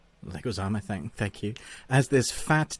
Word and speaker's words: Leguizamo: How do you pronounce his name? Leguizamo, thank you.